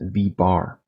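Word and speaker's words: v̄: little bar on top so this term is pronounced V bar and that indicates that we're not talking about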